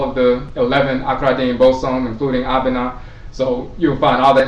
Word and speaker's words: Abenaa: If you look at the name Abenaa she's also called Abraba. So Benaa is also pronounced Bera or Bra.